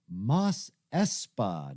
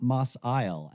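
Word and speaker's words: Mos Espa: outside of moss eisley is in fact mas espa not moss isle as i incorrectly refer to it a number of times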